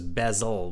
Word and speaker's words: bezel: discussed the appearance um Sarah says bezel with a z b e z e